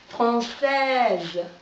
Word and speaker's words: française: Française, français, française. Слышим, да, прилетает пчелка, наш звук «з», française.